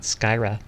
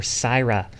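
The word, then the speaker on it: Scyra: Skyra. Skyra _ or Syra. I keep forgetting the C is silent.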